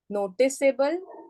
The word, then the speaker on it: noticeable: So to have the soft C sound there, we have to keep the E there. Did you understand, Anahita? Noticeable, noticable नहीं होगा और वो peaceable हो जाएगा if there is no E.